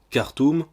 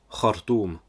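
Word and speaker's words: Khartoum: Boukhari pour dire al-Boukhari ou encore cartoon pour hartoum qui est la capitale du Soudan c'est un exemple qui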